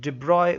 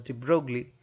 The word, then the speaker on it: de Broglie: Now the first question, first bit A, has asked us to calculate the average de Broglie wavelength. You can pronounce it as de Broglie, but it's actually de Broglie.